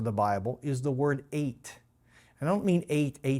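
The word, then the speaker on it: את: points to what was created so the word eighth is a pointer pointing to what God created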